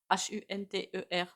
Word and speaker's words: Hunter: s'appelle je sais même pas comment on le prononce Hu n T e r C'est Hunter Hunter je sais pas le fils